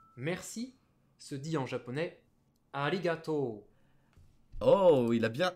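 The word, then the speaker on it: ありがとう: se dit en japonais arigato oh oui il a bien il a bien insisté sur le haut il a bien insisté sur au moins j'aurai toujours dit ali gâteau à des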